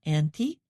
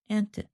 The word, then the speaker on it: anti: It is sometimes pronounced anti or anti.